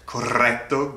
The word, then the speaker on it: corretto: I know, that's a lot of R's. Rrr, corretto grappa.